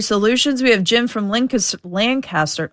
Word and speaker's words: Lancaster: We have Jim from Lancaster.